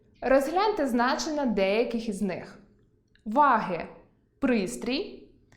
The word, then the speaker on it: ваги: Прочитайте пари слів зі словорозрізнювальним наголосом. Розгляньмо значення деяких із них: вАги (пристрій) і вагИ (кого?